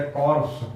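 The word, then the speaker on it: corps: सेना की इकाई इसको हम कहते हैं कॉर्प्स या जैसे एनसीसी है। उसका पूरा नाम है नेशनल कैडेट कॉर्प्स। उसमें कॉर्प शब्द है। पी साइलेंट है।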